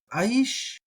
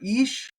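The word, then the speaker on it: איש: And then we have aish, or ish. A lot of people will just say ish. I'm going to say aish, or ish is fine, either one.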